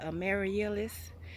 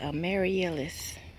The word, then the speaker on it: Amaryllis: Last but not least, guys, because I've been talking y'all ear off about this plant, that Amaryllis. Guess that's how it pronounces.